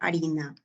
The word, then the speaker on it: harina: comienza con una tónica Por ejemplo si fuese la palabra harina Dónde está el acento de la palabra harina el acento está en la sílaba pri No es cierto porque harina Es una palabra grave no quiere decir que